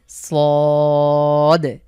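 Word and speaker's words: صاد: একটু মোটা করে মুখ ভরাট করে সদ।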